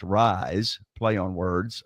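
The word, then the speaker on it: Ryze: it's amazing and it's called Ry Ze pronounced rise play on words r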